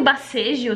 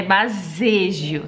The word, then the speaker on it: Baseggio: Você tá chamando de bacejo também? Ah, já chamaram de tudo. Bacejo, bacejo, bazejo. Ah. É bazejo, tá? Com S de mesa.